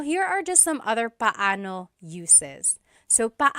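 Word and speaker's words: paano: And then just a pronunciation tip it's technically when there are two vocab or when there are two vowels together you say them separately pano. But when speaking quickly, Filipinos just say pano pano.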